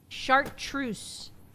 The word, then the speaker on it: chartreuse: Chartreuse. I'm not pronouncing it chart. I'm saying it the way the French made it. Go look it up. That's how they say it. It's shat. They say it like that.